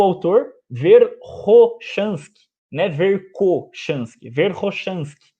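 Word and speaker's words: Верхошанский: Da mesma forma que é o autor Verkhoshansky, né, Verkhoshansky. É assim que se pronuncia o nome dele.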